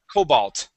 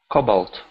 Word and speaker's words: cobalt: the word Cobalt okay stress the beginning of the word Cobalt Cobalt there good there there you